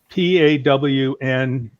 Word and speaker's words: pwned: And then there's another one called You've Been Pwned, and pwned is spelled Pawned, pwned.